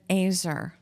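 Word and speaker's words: ezer: the Bible calls a woman an azer. It's spelled E-Z-E-R, but it sounds like a razor.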